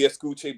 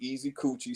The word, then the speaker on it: Escuche: It's supposed to be Escuche, but everybody wants it to be Easy Coochie.